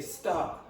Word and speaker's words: star: So, they make they remove this and then they'll make that longer. So they'll say star.